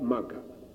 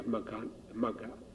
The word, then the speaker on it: Magga: Yeah, Magga. If you have Magga, we have 2 syllables, right? Ma and Ga.